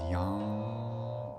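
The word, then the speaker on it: yam: for the heart is young you might see it written as y-a-m but that m is pronounced as a lingual and the um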